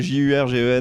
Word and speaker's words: Jurgensen: Comment on écrit Jurgensen pour Jurgensen. J'allais te dire comme ça se prononce. J'avais envie de dire comme ça se prononce. Mais en vrai, c'est Jurgensen.